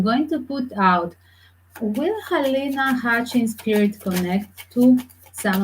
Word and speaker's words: Halyna: Yes, that is a halyna. Halyna, in fact, it would be the Russian Ukrainian pronunciation. Why they put halyna? I guess American pronunciation when she moved to America.